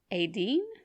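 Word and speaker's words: Étaín: Pagan Ireland would celebrate and honor the goddess Aideen. It's spelled Etain. Aideen, yeah. Okay. Like now the modern name would be Aideen.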